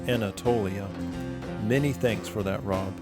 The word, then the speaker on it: Anatolia: you may have noticed my pronunciation of anatalia switch to the corrected version Anatolia many thanks for that